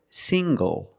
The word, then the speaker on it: single: Also this word, single. Single. The ng makes the nasal sound plus the hard g.